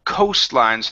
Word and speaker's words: coastline: one here which is coastlines this is an o-line co coastline ghost line great great so because there was more coastline so get rid of that tea in the middle instead of coast line